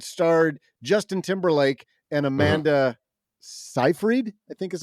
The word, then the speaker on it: Seyfried: this, because it starred Justin Timberlake and Amanda Seyfried, I think is how you pronounce her name. Isn't it Siegfried? No, Siegfried? No. Well, I don't know. It's Seyfried.